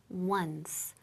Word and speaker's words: once: for on not on ojo muy importante the pronunciation once once Okay una ve for once